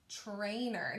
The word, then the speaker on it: trainer: make the word trainer trainer now it sounds a little a little different because it sounds like i'm saying that ch sound but it's not the ch